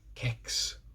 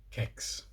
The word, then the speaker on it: kex: K and an e kicks so if kicks really is as I have always believed pronounced with a hard K it's an exception to the rule that I have found who knew so the